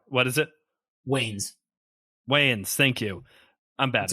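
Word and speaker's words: Wayans: Williams as Harvey D it does have the wans uh Marlin wans as Robin like it does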